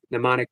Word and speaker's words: mnemonic: You don't have to pronounce that M. Mnemonic breathing.